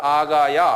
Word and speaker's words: 아가야: 그요 헬라 그러면이 반도고무 발음해 보세요 아가야 아 엄마야 그 아가야 엄마야 하는 아가야 지방이에요 왜냐면요 아가야 지방에 아가야